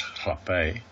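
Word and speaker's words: rapé: It's spelled rape, but it's actually pronounced hape.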